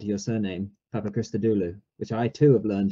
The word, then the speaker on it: Papachristodoulou: and like yourself as anthony said your surname papa krista dulu which i too have learned to properly pronounce there's they go off the top of